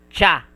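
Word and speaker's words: ちゃ: This is chi and ya. But it will you will pronounce this as cha chu and ch.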